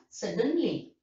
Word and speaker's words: suddenly: Like that, you know, as an adverb, you know, suddenly, foolishly, that is the first syllable is stressed.